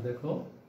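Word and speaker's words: দেখা: আচ্ছা দেখো, দয়কা দেখো একারের পরে ক্ষয়ের সাথে আ ধ্বনি আছে, তাহলে এর পরে যদি আ ধ্বনি থাকে তাহলে এই এ হয়ে যাবে অর্থাৎ বিবৃত হবে। সেক্ষেত্রে উচ্চারণটা হবে দে খা, ঠিক একই রকম এ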